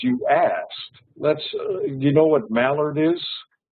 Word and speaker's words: Mallard: So and it's pronounced Mallard. Mallard, and it's a surname, a family name.